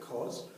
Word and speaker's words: cos: and we write cause this time we actually pronounce it cause so cos theta is equal to adjacent over